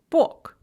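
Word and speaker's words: Бог: Bog, God, is pronounced bok.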